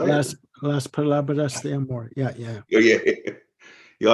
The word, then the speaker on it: Las Palabras de Amor: La Parablas de Amor? Is that how you say it? Las Palabras de Amor.